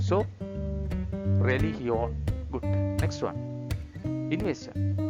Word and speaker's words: religión: After the G, if letter is IOE, then sound is H sound. So religión.